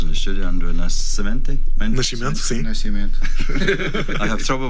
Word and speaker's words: Nascimento: Nascimento, sim. Nascimento. I have trouble with the pronunciation.